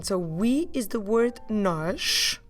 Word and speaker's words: nós: You can spot a sh sound at the end. So that tells you that the letter we're actually writing is S. So nós is N-O with an accent to the right again, S.